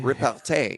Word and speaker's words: Repartee: Repartee. Yeah. Yeah. Whenever you cast an instant or sorcery spell that targets a creature, create a 1/1 white and black inkling creature token with flying.